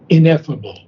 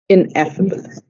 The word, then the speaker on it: ineffable: Mispronounced two things. Ineffable. Ineffable.